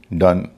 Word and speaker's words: done: जैसे LOVE love, DOVE डव, GLOVE glove, COME कम, SOME सम, DONE डन, NONE नन।